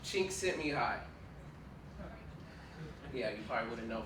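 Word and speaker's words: Csikszentmihalyi: personal favorite concepts by his name is pronounced sent me high yeah you probably wouldn't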